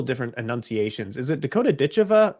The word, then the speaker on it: Ditcheva: Is it Dakota Ditcheva, like the English would say, or is it Dakota Ditcheva? Because I've heard both. Ditcheva, yeah, you say it Okay.